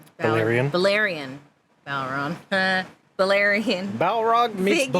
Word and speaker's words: Balerion: Viserys is seen admiring his restored Balron. Balerion. Balerion. Balrog meets figure. Balerion.